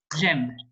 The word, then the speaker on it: j'aime: So instead of saying je, I, and then like M, French people tend to actually say j'aime because it's a quicker way of pronouncing.